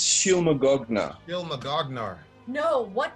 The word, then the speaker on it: Shylmagoghnar: they're called again Dilma I think it's pronounced she'll Magog nah ill Magog gnar know